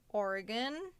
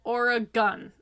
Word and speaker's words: Oregon: pissed at you why they pronounce it origon or a gun yep like I got a gun yep or a gun Oregon yep well that's just simply